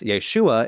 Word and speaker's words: Yeshua: as a separate syllable thus Yeshua is correct if we're following the masoretic text but as Dr sushard said this sneaky a did not exist during the time of Jesus the name Yeshua just ended with a guttural EIN this might seem like